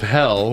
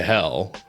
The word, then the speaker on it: Hel: a bus leading to a place that sounds like the word hell in English the local bus operator